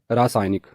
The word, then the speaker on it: रासायनिक: है हम में से कई लोग रासायनिक शब्द का उच्चारण करते हैं जबकि सही उच्चारण है रासायनिक अगला शब्द है स्थाई